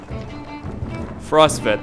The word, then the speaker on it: Frostveller: luck they'll hold out against dredge as well Frost vet that's how you pronounce it okay justel through Alo crowds of